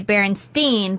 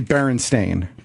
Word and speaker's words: Berenstain: So So the authors are actually Berenstain. That's the correct pronunciation of their Right. last name, right?